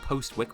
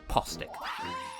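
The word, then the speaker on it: Postwick: Like how the first town in Pokemon Sword and Shield is spelled post-wick but pronounced postic.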